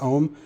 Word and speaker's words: AUM: can use something like AUM I believe it's pronounced M um to actually have